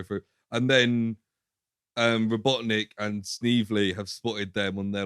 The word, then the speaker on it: Snively: Well, we missed out this guy called, I thought he was called Sniffly, but he's called Snively. It's spelled like Snively.